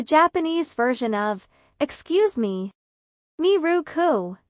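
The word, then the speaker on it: ミルク: "Miruku" is the English word "milk" pronounced in Japanese style.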